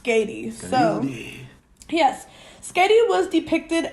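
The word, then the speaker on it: Skaði: of cool it is cool but um it's pronounced skatey so yes skedy was depicted as a joatin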